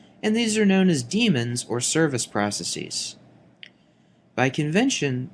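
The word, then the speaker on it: daemon: pronunciation is the same damon is incorrect even though many people mispronounce it now the c code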